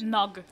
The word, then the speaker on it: Nog: How do I pronounce it? Nog. Nog. Like named nuggets.